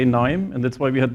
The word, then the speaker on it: KNIME: this video so that everybody knows how our name is pronounced and that the K is silent and so we also